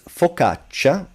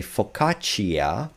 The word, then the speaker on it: focaccia: CA, but this CA, this C is forced to be pronounced soft, so ch, by this I. It doesn't mean that you say focaccia, just focaccia, ca, cha. Again, here you have the double consonant, so it's not focaccia, focaccia.